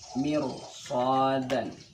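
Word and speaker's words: مرصادا: Contoh mirsadan. Ini ra-nya, ra sukun didahului atau sebelum ra sukun itu kasrah, mir, berhadapan atau bertemu dengan huruf isti'la berupa sad. Mirsadan. Jadi bacanya mir, bukan mir.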